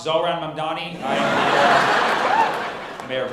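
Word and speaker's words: Zohran Mamdani: My name's pronounced Zoran Mamdani.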